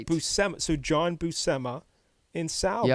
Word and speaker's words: Buscema: So you think Buscema, but no, it's Buscema.